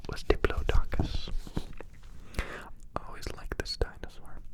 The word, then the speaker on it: Diplodocus: Diplodocus. Docus. This dinosaur was long, but most of it was neck and tail. Its teeth were short and dull. It ate plants. Its name was Diplodocus.